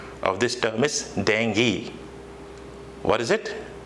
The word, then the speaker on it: dengue: many times from you all that used to pronounce this as dangle but it's not that the correct pronunciation of this term is dengue what is it dengue dengue okay more to the next word most